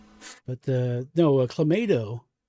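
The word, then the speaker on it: Clamato: But uh no, a clammato. Well, I always pronounce it clammato because I say tomato.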